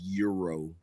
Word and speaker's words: gyro: some people don't even some people will tell you that the g is silent yeah it's hero that's what I mean I mean to be fair there are some people that refer to it as Euro yes but they're weirdos anyway